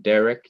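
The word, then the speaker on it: דרך: And so in Derek, you do have an accent over the open syllable de.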